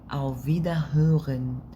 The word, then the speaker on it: auf Wiederhören: ليه قلنا auf Wiederhören؟ عشان الار جت ما بين 2 حرفين متحركين في النطق عادي، ار او اغ.